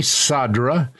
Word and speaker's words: Cadra: right it is sadra and sadra is spelled with uh a c but it's pronounced like s c a d r